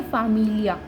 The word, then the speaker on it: familia: तो FA हो गया फा, MI हो गया मी, फामी, LI हो गया ली, और लास्ट में है आ, इया, तो फामिलिया। तो इस वर्ड को हम ऐसे प्रोनाउंस करेंगे फामिलिया।